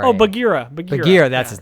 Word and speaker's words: Bagheera: How do you spell it? It's Bagherra. Oh, Bagheera.